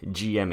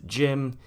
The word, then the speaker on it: GM: the newer ones is jim apparently from what i've heard in the lore the gym pronunciation is supposed to be a nickname but in general all the newer stuff just pronounces it as jim and if you don't